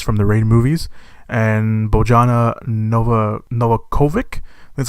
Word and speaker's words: Bojana Novakovic: The film is led by Frank Grillo, Iko Uwais from the Raid movies, and Bojana Novakovic. That's how you pronounce her name.